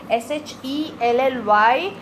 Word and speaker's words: Shelly: जहाँ sh था, Shelly, I pronounced Shelly, and जहाँ c था, seac, वहाँ मैंने स बोला.